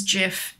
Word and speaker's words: GIF: be for everyone and gif jiff or gif look apparently the creator said it was jeff but like if it's pronounced jeff maybe spell it jeff um well buddies